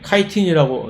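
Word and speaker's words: chitin: 다음에 조금 덜 알려진 키틴, 카이틴이라고 이제 발음한 키틴 또는 펩티도글라이칸이라고 하는 것들이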